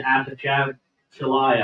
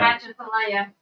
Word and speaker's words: Atchafalaya: I thought it was the Apachalaya. Atchafalaya. That's what it looks like.